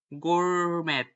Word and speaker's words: gourmet: For example, words coming from French and the eight of laundry it when I read them pronounced and the start in the French way, as in the A in the day.